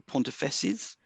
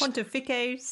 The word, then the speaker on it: pontifices: the pontifex or the pontifesses. Pontify, I'm not pontifesses. It doesn't sound right. It's probably the way you say it. I've done it. It's Pontifices.